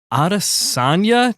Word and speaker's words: Adesanya: Today, we have Adesanya.